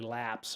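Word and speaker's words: Lapce: So it's probably lapse or something like that. LAPC. The CE is an S like lapse, like a lapse in judgment of not picking something that everybody in the world uses, like VS Code.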